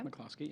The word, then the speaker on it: McCloskey: I'm pronouncing it right? Yeah. McCloskey.